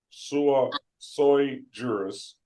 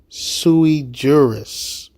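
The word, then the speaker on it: sui juris: Bay in proper persona sua soy jurus. Excuse me, your honor. I hate to keep interrupting you, but it's pronounced propriia sui jurus.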